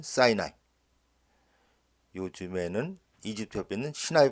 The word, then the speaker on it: Sinai: 여기 현장이죠 엘린과 자이 단어도 영어발음은 사이나이 요즘에는 이집트 옆에 있는